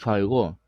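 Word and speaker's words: φ: 파이가 파이의 정수배 따라서 파이는 발음을 잘해야 되는데 얘는 F 발음이에요 파이 이거는 피 발음이에요 파이 그래서 유상수 파일과 파이 에 그 2분의 파이가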